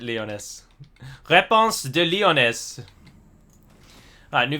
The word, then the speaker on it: Lyonesse: Lyonesse, there you go. She said it herself. That's how everyone knows I've been saying it wrong. Because she herself calls it Lyonesse.